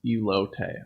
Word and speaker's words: elote: juice on the keyboard and screen and stuff pronounced elote okay so i think people someone asked what